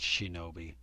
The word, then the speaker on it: 竊盗: But you can see the hiragana next to it, shinobi. Okay, so this is all, it's all being pronounced shinobi, but it's clearly discussing militarized thieves.